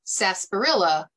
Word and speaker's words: sarsaparilla: Root beer began as a humble tea, traditionally made using the root of one or two plants, sassafras or sarsaparilla, pronounced sarsaparilla in the United States.